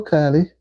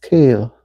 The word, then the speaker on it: Kale: It's pronounced Kale. Kale Haller. Okay. Kale Haller, not Kali.